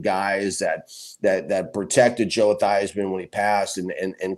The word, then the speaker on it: Theismann: to notre dame and his name was was really thiesman but he changed at the thighsman to rhyme with the heisman so he could try to win the heisman if you remember and